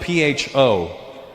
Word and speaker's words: pho: It's spelled P-H-O. Pho. But it's not the way it's pronounced.